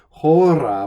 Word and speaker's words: hora: not spanish here so you have to pronounce that h hora when it at nunc